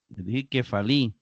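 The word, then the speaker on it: κεφαλή: en Ita que fa que fali se acentúa en última sílaba verad enita obviamente siguiendo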